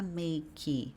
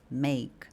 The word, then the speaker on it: make: Então, a gente não vai falar "meique", a gente vai falar "meik", como se não houvesse o e.